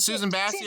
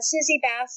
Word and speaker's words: Susie Bass: Is it Susan Bassey or Basie? Susie Bass Award. Yeah, Bass Award.